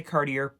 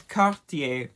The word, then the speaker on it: Cartier: another French brand it is Cartier don't say car dear please I beg you don't say car dear it is cop da next designer on this list again French I'm